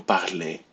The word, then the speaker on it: parlez: So, je parle, tu parles, il parle, elle parle, vous parlez. So this sounds a lot like the infinitive parler.